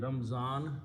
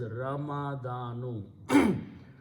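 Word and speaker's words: رمضان: word means month and this is Ramadan we generally pronounce in Urdu speaking ramzan which is Urdu name but full word is ramadanu so you combine these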